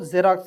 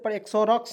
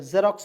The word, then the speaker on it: Xerox: Example XEROX तो इसे क्या पढ़ेंगे दोस्तों, जेरोक्स। मैंने आपको ऊपर बताया था कि इसे एक्सोरॉक्स नहीं पढ़ेंगे, जेरोक्स पढ़ते हैं, जीरोक्स पढ़ते हैं। जीरोक्स मिस होता है प्रति छाया, देखिएगा।